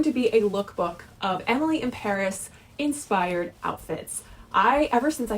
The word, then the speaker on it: Emily in Paris: Netflix recently tweeted that Emily in Paris was supposed to be pronounced Emily in Paris so that it rhymes.